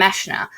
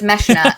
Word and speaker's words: Meshner: And then we have Fabian and Meshna, whose name is spelt Meshner, like with an ER at the end, but British narrator, so she says Meshna, and so I'm just